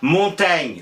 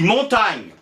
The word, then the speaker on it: Montaigne: pas on disait montagne le x avait simplement indiqué comment prononcer son nom ça peut être important qu il est mort depuis longtemps mais si par hasard vous croisez ne lui dit pas vraiment un comment tu vas il va vous regarder comme un d'avril mais t'es ouf et moïse prononcent pas on dit montagne voilà ça servait à